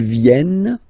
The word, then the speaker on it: viennent: Ils viennent, elles viennent. Ils viennent, elles viennent. Alright? E-N-T, you don't pronounce them.